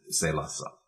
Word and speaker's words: Salusa: that play safe and he probably meant it to be pronounced SaLuSa okay but any Latin speaker reading it would probably pronounce it sale us up alright but what about